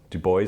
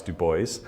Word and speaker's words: Du Bois: But obviously I mentioned the French pronunciation and people might be wondering why it's Du Bois and not Du Bois. We don't have an answer as to why it's Du Bois, but we do know that Du Bois insisted